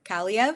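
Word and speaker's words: Kaliyev: have a new face in the room Arthur CV is how you pronounce it y CV um thank you uh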